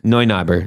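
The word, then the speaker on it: Neu Knobber: it was yeah it's how's it spelled it's spelled like n-e-u n-e-u yeah that's noi noi knobber yeah then noi knobber expands now he is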